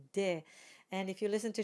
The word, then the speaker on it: des: In speech, we might say des autres saisons. So if you're looking up pronunciation on the internet or in dictionaries, you will see it indicated as an A sound. But in singing and in formal French, we say des.